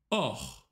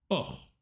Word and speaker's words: hors: Hors. Вне. H не читается. Hors.